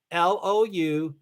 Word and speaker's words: Louisville: Louavul, Louisville. 2 syllables, not 3.